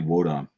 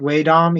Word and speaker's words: Wodom: Because I've always pronounced it Waydom, even if I didn't know what it was. Even though there's not an A in it, you call it Waydom. Isn't it WA? No, it's O's.